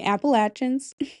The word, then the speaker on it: Appalachians: If you've ever driven through the Appalachins at night, if you think I'm pronouncing it wrong, go ahead. The Appalachins, I know it's correct.